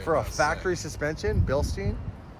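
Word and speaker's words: Bilstein: for a factory suspension billstein is that how you say it billstein or is it Bill Stein I say Bill Stein billin never know cuz it's German right it is so it's like Stein is it do you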